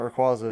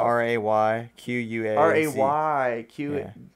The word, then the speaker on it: Rayquaza: R-A-Y-Q-U-A-Z-A. R-A-Y-Q-U-A-Z-A. Okay. Or I guarantee, Rayquaza. I actually think that's how you're supposed to pronounce it, but I don't care.